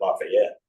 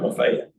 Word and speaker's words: Lafayette: We say Lafayette Street. You might pronounce it Lafayette, but we call it Lafayette.